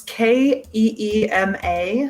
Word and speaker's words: Kima: Kima, it's Keema.